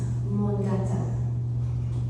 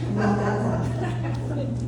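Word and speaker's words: Mångata: It's a Swedish word, and Johanna, you can give me the right pronunciation, but it's Mongata.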